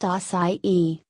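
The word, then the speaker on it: açaí: vegetarian dietary supplement what are acai berries acai pronounced acai berries harvested from palm trees in the Amazon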